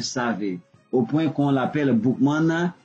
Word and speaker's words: Boukman: Donc Boukman, comme on a dit, c'était un savé, au point qu'on l'appelle Boukman, et ça se comprend comme ça se prononce. Boukman, Bouk, livre, men, homme, l'homme du livre.